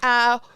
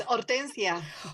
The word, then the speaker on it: Hortensia: Now, today is day number 2, but so far is it Hortenisha? Is that how I say it? Did I say it right? Almost. No, it's Hortensia.